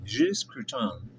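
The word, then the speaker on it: Gilles Gratton: Gilles Grafton.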